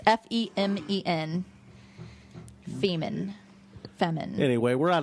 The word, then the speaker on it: Femen: I'm fucking It sending might a be fucking pronounced letter. Femin. It's Femen.